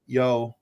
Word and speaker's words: Yeoh: of days for it is the new Michelle Yeoh. Is that, I think I'm pronouncing her last name properly? Michelle Yeoh. Mm-hmm. Yeoh.